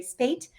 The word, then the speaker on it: Spate: So again, The Urban Garden, 101 Ways to Grow Garden and Beauty in the City by Kathy Jentz and Terry Spate, rhymes with 8.